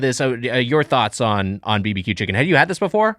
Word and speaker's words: bb.q Chicken: the name is and you just say it apparently BBQ chicken you don't say barbecue Chi say barbecue so BBQ chicken no this is the